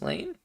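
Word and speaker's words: Lain: have you ever seen serial experiments Lane it's pronounced Lane I've seen that one it is it's good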